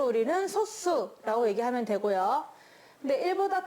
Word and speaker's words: 소수: 딱 약수가 2개인 수, 소수라고 합니다. 읽을 때 그냥 소수라고 읽지 않아요. 소수는 왠지 0.3 같은 그런 수잖아요. 이거는 그냥 강하게 소수 이렇게 읽어줍니다.